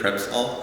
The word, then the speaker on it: Prep-All: Oh, Prep All. Everyone pronounces it Prepsol.